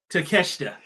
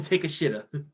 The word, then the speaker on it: Takeshita: I almost said it the wrong way. Takeshita. People call him Take a Shitta.